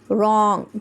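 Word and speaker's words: wrong: similarly we have WR digraph, जहाँ पर पढ़ते वक्त W लेटर साइलेंट हो जाएगा, हम सिर्फ R की फोनिक साउंड सुनेंगे और इसकी स्टार्ट कैसे होगी, वर्ड के साथ, लेटर के साथ, एज इन रॉन्ग, W की वो साउंड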